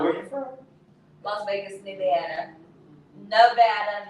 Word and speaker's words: Nevada: Las Vegas, Nevada. Nevada, not Nevada, Nevada. That's what it's kind of pronounced.